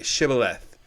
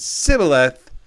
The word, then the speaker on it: Shibboleth: And if he answered no, they told him, "Please say Shibboleth." But if he said Sibboleth, because he could not pronounce it correctly, they seized him and executed him at the fords of the Jordan.